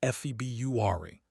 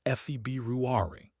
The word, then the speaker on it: February: Most people say February, dropping that first R entirely, but it's actually February. February, that R after the B is supposed to be there.